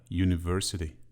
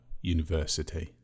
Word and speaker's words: university: The letter U at the beginning of the word university is pronounced as y. It is a consonant sound, so we use a university.